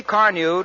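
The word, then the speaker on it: Carnu: You see, Car New does not one, but two jobs at once.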